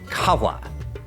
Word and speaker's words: Qahwah: This would be pronounced kawa.